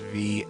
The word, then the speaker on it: Vianu: And Vianu, which I think is V-I''ANU, Vianu.